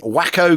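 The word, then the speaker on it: Waco: 436 gliders c47s and 70 wacko gliders that's the approved pronunciation their Pathfinders start to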